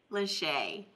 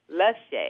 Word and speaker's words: Lachey: Lashay. Lashay. But it does look like it's spelled Lachey, so either way, I'm fine.